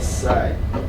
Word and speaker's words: said: Before he sat down, the Frenchman looked at my grandfather and said, Bon appetit. And said, Bon appetit. bon appetit. Bon appetit. SAID. Said. Sounds like this. Rhymes with red.